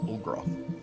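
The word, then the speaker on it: Ul'groth: Olgroth. Olgroth? Olgroth. Like O? U-L apostrophe G-R-O-T-H. Olgroth.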